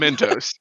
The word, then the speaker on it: Myntos: No, It's it's just Mentos. spelled different. It's spelled different. It's got a Y instead of an E.